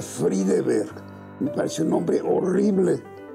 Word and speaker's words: Friedeberg: Yo soy Pedro, se pronuncia Friedeberg, me parece un nombre horrible.